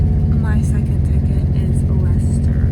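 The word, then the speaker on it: Leicester: that's just like um and it's spelled like they call it Lester in Boston I love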